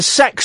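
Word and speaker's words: CeX: We went into the sex shop, you know, um, computer exchange text, but apparently it's pronounced sex, right?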